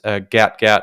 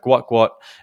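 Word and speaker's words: Gout Gout: um we had 16-year-old guat Gat um incorrectly pronounced Gat gat over the weekend but guat guat um clocked a time of 10 minutes and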